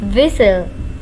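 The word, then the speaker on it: whistle: में खुसर फसर करना विसल विसल टी इसमें है साइलेंट इसे हम पढ़ेंगे विसल विसल सीटी बजाना स्नोर स्नोर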